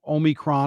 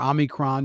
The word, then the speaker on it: Omicron: with things like uh covid still and now omicron or omicron depending on how you want to pronounce it and there's a lot of fear